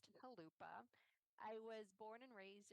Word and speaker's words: Chalupa: In Ukrainian, that's pronounced Chalupa.